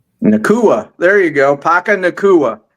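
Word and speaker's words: Nacua: Nua. There you go. Paka Nua. That's how you pronounce it.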